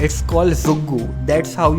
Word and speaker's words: Zoogu: तो आज की वीडियो के लिए इतना ही, और तुम जिस चैनल पे ये वीडियो देख रहे हो it's called ज़ुग्गू, that's how you pronounce it, ZOOGU।